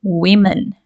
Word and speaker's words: women: a becomes e but in pronunciation we change the first syllable women right woman women all